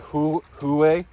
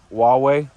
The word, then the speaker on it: Huawei: It looks like Huawei, but it's actually pronounced Huawei.